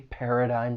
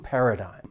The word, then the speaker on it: paradigm: When pronouncing this word, it has three syllables. The stress is on that first syllable. But it's that third syllable that can be a little tricky because once again, this is when the spelling and pronunciation just do not match. So the third syllable has a silent G. And the vowel sound, it's a long I sound, not a short vowel sound.